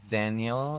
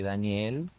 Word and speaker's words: Daniel: say my name is Daniel and sometimes I say Daniel and it's the same name but like the pronunciation makes such a difference for me and I